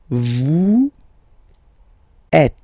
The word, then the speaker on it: vous êtes: Vous êtes. Same thing here. Notice that final S is not pronounced.